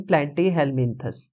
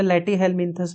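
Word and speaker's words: Platyhelminthes: helps in osmoregulation इन प्लाटी हेलमंस प्लेटी हेलमंस बोल लो या लेटी हेलमंस बोल लो प्रोनंसिएशन का फर्क है बस लेटी इसमें पी साइलेंट होता है लेटी हेलमंस में कौन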